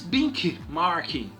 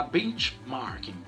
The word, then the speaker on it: benchmarking: bastante interessante uma ele em algumas pessoas de bic marking né eu vou pronunciada a forma que os americanos pronuncia tá benchmark que é estudar as